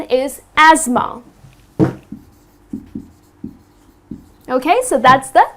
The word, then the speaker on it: asthma: suffering from this disease called asthma it's not asta ma ok because the way it's spelled people tend to pronounce it incorrectly people tend to say hasta ma but it's not a stoma the correct pronunciation is asthma ok so that's the correct pronunciation another word